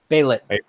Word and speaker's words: Baylet: I said it wrong before. Paul corrected me, and it's Baylet.